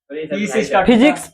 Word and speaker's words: physics: फिजिक्स पी से start होता है, फ से बोलते हैं उसको, PHYSICS।